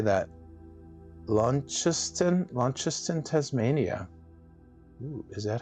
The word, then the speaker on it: Launceston: Launceston, Tasmania. Ooh, is that how you say it? Launceston? That's cool. Launceston.